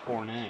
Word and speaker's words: Horne: Sorry, it's pronounced Horne.